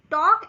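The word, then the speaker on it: talk: टॉक अब टॉक ऐसा word है जिसमें एल का साउंड बोला नहीं जाएगा। लिखा जरूर जाएगा।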